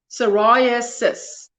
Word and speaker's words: psoriasis: saturday there you go psoriasis you don't pronounce the p and hi everybody just